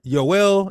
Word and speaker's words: Yoel: Joel in Hebrew is Yoel, ending in L because God is in his name.